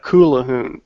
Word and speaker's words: Callahan: your name uhal Cal Callahan well it's spelled with a Q cal It's Scottish Calahan okay it's properly pronounced the kahon but Callahan is a